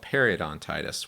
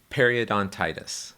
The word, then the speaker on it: periodontitis: can progress to more advanced gum disease called periodontitis where that is not just inflammation of your